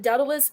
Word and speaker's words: Daedalus: I had to Google how to pronounce it because I was like, I'm going to say it wrong. Daedalus.